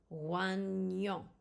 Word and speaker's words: oignon: GN is pronounced like the Ni in onion. It's a Ny sound. Oignon, which is onion.